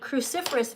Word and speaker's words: cruciferous: Remember that you have to eat cruciferous vegetables every day. A cruciferous example is could be kale, broccoli, or look here, cauliflower. All right. Cruciferous. Can you say that? Cruciferous. Cruciferous. Cruciferous. Four syllables.